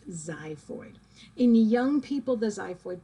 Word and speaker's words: xiphoid: so yes it's pronounced it's spelled with an x but it's pronounced xiphoid in young people the